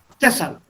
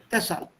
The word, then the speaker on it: deshalb: There's a dot under the E, a dot under the A. Deshalb. Deshalb. Deshalb. This dots tell you where to put your accent.